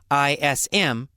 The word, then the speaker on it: Taoism: So it's spelled with a T, but pronounced as a D.